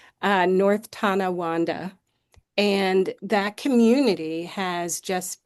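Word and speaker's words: Tonawanda: Um it sounds just like it it's spelled just as it sounds. Uh North Tana Wanda and that community has just been uh over Thank you.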